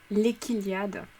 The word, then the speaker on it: L'Eschylliade: Moi je le prononce les... Non, je le prononce pas. L'Équiliade. Ouais, ça fait bizarre autrement.